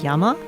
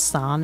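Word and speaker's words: 山: is character for mountain, which on its own is means yama. But here we're pronouncing it cuz it's part of another word. It's part of a word, not a word on of itself. It's pronounced as son instead.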